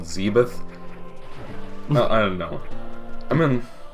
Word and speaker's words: Zebes: First I thought it was Zebes, then I thought it was Zebus, something like that. Zebus. In the intro cutscene of the original NES game, it was called Zebeth.